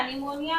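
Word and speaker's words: pneumonia: इसी तरह यहाँ पर निमोनिया, निमोनिया में पी का साउंड नहीं आ रहा है लेकिन फिर भी यहाँ पर पी लिखा गया है, निमोनिया।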